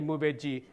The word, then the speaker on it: Mubedji: Please, please, if you have children, family members, parents, Mubeds, Dasturjis, tell them, say it correctly, Mubedji. Ashem Vohu Vaishtam Asti, Oshta Asti or Ushta Asti, both are good.